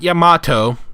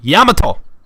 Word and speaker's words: Yamato: Not Yamato. Yamato! Sorry, I'm learning Japanese and I get really pissed off when I hear that voice actors mispronounce Yamato.